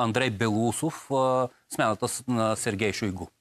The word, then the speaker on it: Шойгу: белоусов смяната на сергей шойгу шойгу е правилното ударение между другото на име шойгу да ами вижте какво